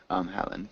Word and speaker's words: Helen: Helen. Just don't forget the H.